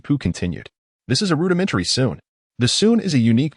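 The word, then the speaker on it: 埙: Note, sun is pronounced with a first tone.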